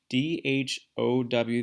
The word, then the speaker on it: dhow: on what's called a dhow. D-H-O-W. The H is silent, a dhow.